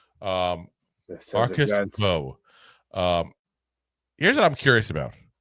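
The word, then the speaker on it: Mbow: Marcus Bow, or Bo, I keep want to say pronounce the old way that the Purdue people were saying we were scouting him. They gave us wrong information. Marcus Bow.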